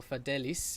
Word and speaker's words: Adeste Fideles: pronouncing this, but it's Adeste Fideles, or Fidelis even, which is also more regularly known in English as O Come All Ye Faithful.